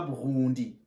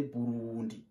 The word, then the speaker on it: Burundi: Pas Burundi, mais Burundi.